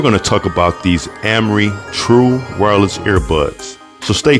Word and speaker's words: AM-RE: So again, this is pronounced Amri, and these True Wireless